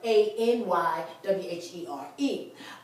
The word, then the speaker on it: anywhere: told pronounce this word i n i is pronounced exactly like a n y in in English so anywhere so you